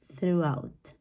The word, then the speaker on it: throughout: it's going to be throughout throughout okay once again it might look like a long word but the pronunciation is just very short throughout okay now